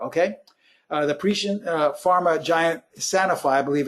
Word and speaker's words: Sanofi: The Parisian pharma giant Sanofi, I believe it's pronounced, SNY, got into the Biotech Cancer Treatment